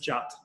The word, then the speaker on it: JWT: JWT is short for JSON Web Token, but it's pronounced JOT for some reason, because it's easier.